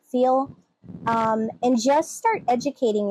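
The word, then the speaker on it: Feil: articles on Naomi I I'm not sure if she pronounces it file or feel but it's F like Frank EI i l Naomi feel um and just start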